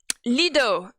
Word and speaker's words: Lido: I pronounce his name like this because it sounds like it's written as the same way as the cabaret that we have in Paris that is called the Lido, where you have the crazy horse girls and all that who be dancing like naked with their titties out and stuff. Yeah, so that's why I say it like this, because I think it's sexy.